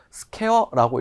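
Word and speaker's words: SQ: 자, 밀리미터 그리고 밀리미터 제곱인데 우리는 전기에서는 S, Q 해가지고 스퀘어라고 읽죠.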